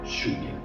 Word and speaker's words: lluvia: And because of that, in other countries, these two letters are pronounced like for example, the SH in show. So we say show and lluvia.